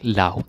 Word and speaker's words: lag: It comes from lag, because it's different layers. But it becomes like lav, the pronunciation, because it's a compound word.